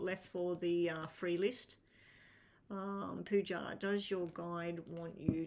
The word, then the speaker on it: Pooja: Now, Pooja, I think you pronounce it like that with a zh sound.